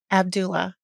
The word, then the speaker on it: Abdullah: really yeah how do you how do you pronounce prounce your last name Abdullah Abdullah super easy I know I would have said